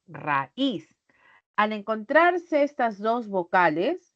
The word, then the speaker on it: raíz: generales Entonces por ejemplo si yo digo raíz al pronunciar no digo raiz noo raíz al encontrarse estas dos